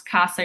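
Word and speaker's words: cassa: So if we have two S's sandwich by vowels, our Z rule doesn't apply. It's only when it's that singular S. So casa is pronounced with a true S because there are two S's.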